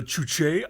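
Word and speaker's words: Juche: watch it it's called the chooche idea it's from uh it's an experimental feature from jim finn and that's spelled j-u-c-h-e yeah uh it is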